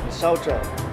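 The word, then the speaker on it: misaotra: Saucha.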